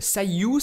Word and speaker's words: Cyueue: voilà donc pour cet excellent twek il s'appelle Sayu ça s'écrit comme ceci et vous pouvez le retrouver